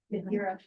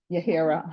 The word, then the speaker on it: Yadira: Yahara, Yadira. Yahira, I'm sorry. Yadira, the H is silent.